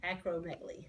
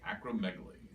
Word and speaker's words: acromegaly: Acromegaly. Acromegaly. Just like it's spelled.